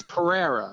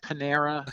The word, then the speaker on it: Pereira: every time yeah everybody it's Pereira Pereira okay so yeah it's it's he's Portuguese it's spelled p r e i r a Pereira but I mean I've heard I've heard Panera I've heard all you